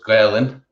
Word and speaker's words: Gaelainn: So Gaeilge in most places, but Gaelainn in Corca Dhuibhne.